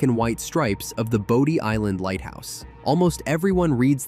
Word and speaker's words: Bodie: white stripes of the Bodie Island lighthouse. Almost everyone reads that name wrong in their head, but the locals will tell you it's pronounced body.